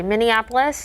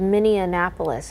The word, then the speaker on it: Minneapolis: and Indianapolis fun story Minneapolis okay 38 so not necessarily freeze there for the longest time I thought Minneapolis was miniapolis I added an extra um syllable in there Adam casy will like